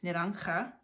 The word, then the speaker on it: naranja: This is like an H, naranja.